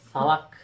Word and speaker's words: salak: Salak bahasa Turki bodoh. Bodoh. Itu salak beneran. Salak. Salak. Bacanya salak. Salak sama. Oh, sama aja ya, salak.